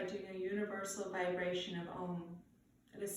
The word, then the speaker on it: Om: a universal vibration of ohm that is said to be the sound of the universe it is pronounced a um though it's spelled om I invite you to